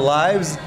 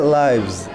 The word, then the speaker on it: lives: Bacanya beda, tulisannya sama.